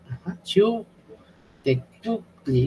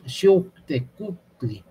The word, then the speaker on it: Xiuhtecuhtli: Xiuh, esta es una W, es una U, pero cerrando al mismo tiempo la garganta, así como la U francesa. Es una U, Xiuhtecuhtli, igual esta. Este es una... Es una especie de sílaba muy difícil, porque es Q, es muy gutural, es una K o una C y una U francesa, todo muy gutural es esto.